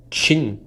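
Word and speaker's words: Qin: versão da grande muralha o nome de sua dinastia pronunciado Chin provavelmente está na origem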